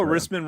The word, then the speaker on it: Rissman: Also, Rissman rhymes with Pissman.